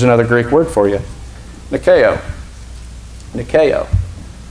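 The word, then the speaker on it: νικάω: Nikeo. Nikeo. Alpha can be pronounced ah, so it could be nikao.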